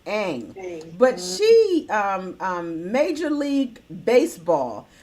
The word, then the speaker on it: Ng: But a young lady by the name of Kim Ng, and her name is her last name is NG. Kim Ng, and it's pronounced Ang.